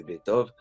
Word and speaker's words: Beethoven: Et enfin, pour être plus précis sur le cas de Beethoven, que je prononcerai donc à la française, même si cette espèce de délision sur la dernière n'est pas brillante, dans son cas, c'est